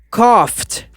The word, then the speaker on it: coughed: E no passado, tem o ED, só que o som é de T. Então fica coughed.